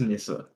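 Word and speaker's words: nisse: Is it pronounced? It's like. Is it Nissa? Yeah, It is Nissa.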